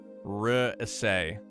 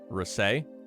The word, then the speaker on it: Rhys: Rhys is pronounced Rhys-ay. Rhys-ay? Rhys-ay? Rhys-ay? Rhys-ay? Rhys-ay? Rhys it is!